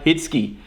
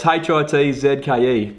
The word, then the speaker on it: Hitzke: So, bit of a hypocrite here, but mate, you pronounce my name Hitzke. So it's Hitzke, pronounced Hitzke.